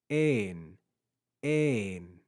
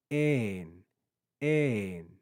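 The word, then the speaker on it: ἦν: We have eta and nu. Ein, ein. You can hear my pitch rise and fall. Ein, ein.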